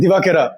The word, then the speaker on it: Divakera: I mean, that's also the first time I understood how to actually pronounce his surname. By the way, that's the Sri Lankan bit coming in. Divakera.